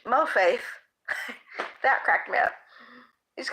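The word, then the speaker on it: מוֹפֵת: You pronounce it in English, mo faith.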